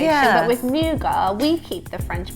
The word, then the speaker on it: nougat: Nougat. Nougat. I think the British say it like the French say it. Yeah. Nougat. But Americans kind of add that sort of T sound at the end.